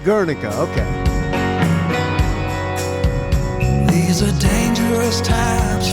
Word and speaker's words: Guernica: Guernica, so it's pronounced Guernica, okay.